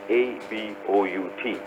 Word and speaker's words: about: For example, the word A-B-O-U-T. How would you pronounce it? About. Yeah, it's more or less about. The stress or the accent is on the second syllable, which is B sound.